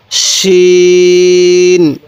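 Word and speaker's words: شين: এরপরে শিন। এই শিনের আওয়াজটা একটু মোটা করে করব, তাহলে সিন খালি, শিনের উপরে 3 নোক্তা।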